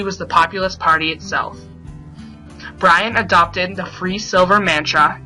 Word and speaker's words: Bryan: The Lion is none other than William Jennings Bryan, the Nebraska representative in Congress and later the Democratic presidential candidate in 1896 and 1900. Bryan, which rhymes with lion and also sounds like lying, was known for his